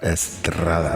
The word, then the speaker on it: Estrada: Now, you got to roll that R. Estrada.